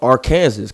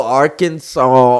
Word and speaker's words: Arkansas: know you're from a little place called uh Aransas correct correct me if I'm saying it wrong but Aransas ar oh Arkansas Arkansas Eric likes to act like I'm from